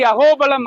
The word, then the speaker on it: அகோபிலம்: இன்னொரு வார்த்தை, இன்னொரு விதத்துல இது உச்சரிக்கப்படுது அகோபிலம் அப்படின்னு சொல்லிட்டு. சோ பில அப்படிங்கிற வார்த்தைக்கு அர்த்தம் என்னன்னா குகைகள்னு அர்த்தம், குகை அப்படின்னு அர்த்தம்.